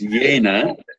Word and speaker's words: Jehne: Yeah, well, look, it's Jehne. So that's how it's pronounced, Jehne.